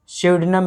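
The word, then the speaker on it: pseudonym: देखिए इसकी स्पेलिंग ध्यान रखिएगा, स्यूडनम इसको पढ़ा जाता है, पी साइलेंट होता है ना, पिस्यूडनम, PSEDONYM।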